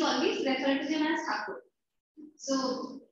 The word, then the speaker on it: Thakur: So Britishers pronounced Thakur as Tagore, and so it became Thakur. It's like Mumbai became Bombay. So Britishers pronounced Mumbai as Bombay, and it became Bombay. So real name of the word, it's Thakur. Thakur.